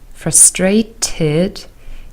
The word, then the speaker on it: frustrated: here are the answers frustrated Edie is pronounced as ID frustrated stressed Edie is pronounced